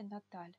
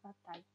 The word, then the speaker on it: Natal: Или Наталь, родной город. Наталь, вот видите, читается более мягко буква Л. Не так, как в русском языке. Она читается Наталь. В русском бы читалось Натал.